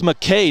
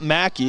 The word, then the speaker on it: McKay: So I guess it's McKay, not Mackey.